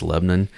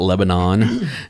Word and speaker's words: Lebanon: aren't from Nashville that yes, that's the correct pronunciation. It's Lebanon. It's not Lebanon. Yeah. Yeah. And for those of you who don't know, Cracker Barrel started here just east of Nashville. Yep. In Lebanon, Tennessee.